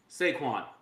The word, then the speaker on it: Saquon: The Eagles will win the Super Bowl because of two syllables. Saquon.